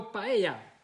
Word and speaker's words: paella: maybe that's the thing so paella the e is silent exactly from vancouver so